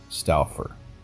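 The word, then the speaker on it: Stouffer: Jack custo and Marty staler no really that's how you pronounce his last name I'm Marty stalford while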